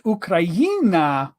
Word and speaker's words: Ukraina: It's Ukraina. That's why. Okay. It comes from the word Ukraina in Ukrainian for Ukraine. And it's the letter in the middle, ye. So Ukraina, right?